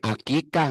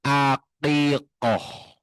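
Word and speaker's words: عقيقة: Bukan akikah, enggak ada akikah. Yang betul akikoh susah kan jadi akekah.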